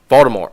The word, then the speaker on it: Voldemort: You're not supposed to pronounce it with a T, according to. What? Yeah, according to Rowling. Yeah, there's a. I have it in my notes that there's a tweet that she put out to where it's not supposed. The T is silent.